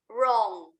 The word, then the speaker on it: wrong: the matter or what's wrong? Okay. What's the matter? Okay, repeat after me together. What's the matter? what's the matter? What's wrong? What's wrong? W is silent. W-nya jangan dibaca ya.